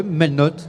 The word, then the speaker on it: Melnotte: À vos côtés, Melnotte, on prononce comme ça? Oui, Melnotte.